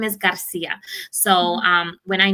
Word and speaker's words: Garcia: And then their last name, I've always taught them to say Garcia. You got to roll your R because that's how you say your name.